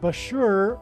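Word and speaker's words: Bushehr: Bashur nuclear power plant and Bashur rhymes with Barker it is predicted that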